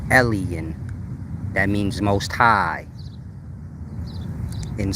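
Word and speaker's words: Elyon: ancient Hebrew word pronounced Ellen some people pronounce it Elan but that's incorrect it's Ellen like how when Jesus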